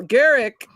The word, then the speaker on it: Gerick: Well, Garrick is on the uh and I'm pronouncing it right hopefully.